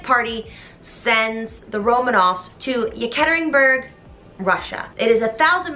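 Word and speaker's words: Yekaterinburg: g the bolshevik party sends the romanoffs to yeketeringberg russia it is a thousand miles from moscow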